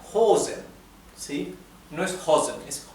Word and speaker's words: Hosen: y una vocal después la o se pronuncia larga hosen si no es hen es hosen y la H es